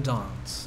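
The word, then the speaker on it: Danse: You should pronounce his name with a bit more of your British accent, like Paladin Dance. Or Dance, right?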